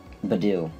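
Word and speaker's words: Budew: i'm calling him b do i don't care badou that's how it's said badou that's what i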